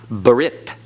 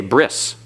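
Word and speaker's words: ברית: The tow is no longer pronounced as a T. It's an S. So, they say bris in modern Hebrew.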